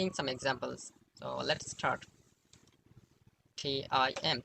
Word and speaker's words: Tim: T-I-M. How to say it? Yes, it's Tim.